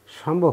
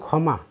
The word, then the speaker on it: ক্ষমা: যেমন উদাহরণস্বরূপ একটু বলি, এটা তো বাংলা উচ্চারণ ক্ষমা, কিন্তু যখন সংস্কৃতি উচ্চারণ করতে যাব তখন উচ্চারিত হবে সমা।